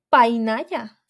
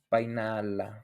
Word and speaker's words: Painala: ¿Cuál fue la infancia de la Malinche como una niña nahua en el pueblo de Painaya? ¿Se dice así? Painala. Creo que Painala, Painala.